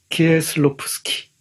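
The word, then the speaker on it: Kieślowski: 이 소설에 등장하는 주요 인물, 등장한다고 말씀드렸습니다마는 직접 등장하는 인물은 구레츠키 뿐입니다마는 간접적으로 키에슬로프스키, 발음 좀 어렵죠?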